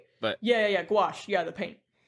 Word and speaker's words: gouache: Gaus Gash. I don't either, but uh Oh, wait. Yeah. Yeah. Gouache.